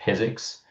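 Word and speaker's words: PyZX: It's called Physics. Uh pronounced like physics without the H.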